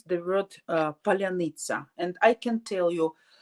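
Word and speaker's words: паляниця: groups our soldiers till uh tell the word pronounce the word uh palyanizza and I can tell you none of Russians can pronounce that word properly nobody so they can't say palanica but that sounds absolutely not not in a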